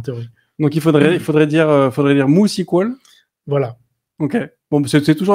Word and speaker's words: MySQL: MySQL, en fait, c'est la prononciation américaine, mais ce n'est pas du tout le nom de la base de données. Le nom de la base de données s'appelle MooSQL en réalité. Ah ouais. Et tout le monde dit, mais pourquoi Moo? Mais en fait, il ne faut pas oublier que Monty est un Finlandais. En finlandais, le Y se prononce OU.